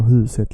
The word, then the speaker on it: huset: Vet ni var huset ligger? Vet ni var huset ligger? You see how I stretch huset? I'm stretching the first syllable.